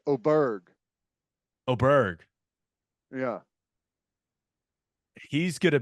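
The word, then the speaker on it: Åberg: you you you went oberg you'll hear aberer quite a bit but I O is oberg is the proper way to say it right it's the a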